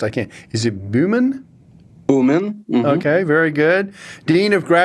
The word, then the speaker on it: Bumin: I have Kirill, and I may botch the pronunciation of these names, so I'll do the best I can. Is it Bumin? Bumin.